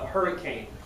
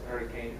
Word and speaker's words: Hurricane: Yeah, they have a city in southern Utah called Hurricane, but they don't pronounce it hurricane. They pronounce it hurricane, and that's where the polygamists live.